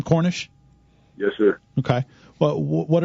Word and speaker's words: Cornish: new sentinel sports page is that the correct pronunciation of your last name cornish yes sir okay well what are what are